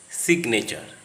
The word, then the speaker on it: signature: But in the following words, G is pronounced ignore, signature, because the G and N are part of two different syllables.